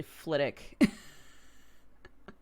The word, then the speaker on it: Flitwick: it is it's like Flitwick is actually flit ik when I was on